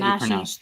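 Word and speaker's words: Donají: And that Donashi, you pronounce I know I pronounced it correctly because it has the pronunciation on here, because that's the princess's name.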